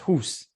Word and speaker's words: house: Or the word, I don't know, house is pronounced hus.